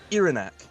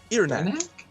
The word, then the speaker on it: Iranak: or you can call me Iranak. I'm sorry, what? Iranak. Yes. Is spelled that- backwards. Ear neck.